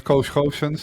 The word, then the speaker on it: Koos Goossens: course um yeah so my name is co hosin that's a really Dutch name to pronounce in English uh English speaking people would pronounce it differently I guess um I